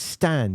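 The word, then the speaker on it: Stijn: Don't pronounce it Stygian, it's Stan, you buffoon.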